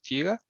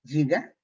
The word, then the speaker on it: giga: ¿Qué es giga?